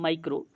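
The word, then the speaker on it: micro: माइक्रो, देखिए माइक्रो या MICR उससे मैं बोल रहा हूँ, माइक्रो है ना, माइक्रो, और ये है मैक्रो, ये है मैक्रो।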